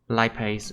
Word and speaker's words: lipase: And we very also different have from the way we pronounce it in Vietnamese. Lipase, it's lipase.